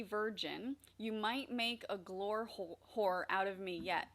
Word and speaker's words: Glore: how did you not just call it the Glore hole? I don't understand. Glore hole. The E is silent.